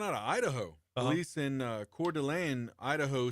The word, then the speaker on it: Coeur d'Alene: Maybe, but it's Coeur d'Alene.